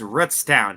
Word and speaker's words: Rootstown: It's not Roots. It's Rootstown.